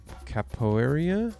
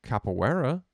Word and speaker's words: Capoeira: Capoeira?